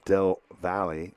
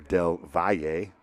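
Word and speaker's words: Del Valle: played all three games winning two to one over Dell Valley or Dell Vier is the correct pronunciation which gets them to the regional semi-finals here against the Mustangs.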